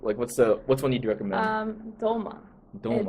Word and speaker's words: dolma: Doma is Dolma, but Dolma. some people say Toma, Tolma.